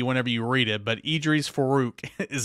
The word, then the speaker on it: Edrees Farooq: the high school ranks and three stars safety Idris farook and that is how you say his name Idris faruch and uh it's it's it's looks really funky whenever you read it but Idris Farooq is how you say it a three-star safety